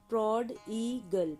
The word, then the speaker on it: prodigal: इसकी प्रोनंसिएशन है प्रड ईगल।